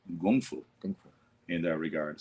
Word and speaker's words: kung fu: Yeah, like people say, oh, I take kung fu. It's actually gung fu.